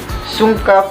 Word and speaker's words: Sungka: Sungka, pronounced as Sungka, is a two-player turn-based board game wherein the players compete to obtain more stones than the other.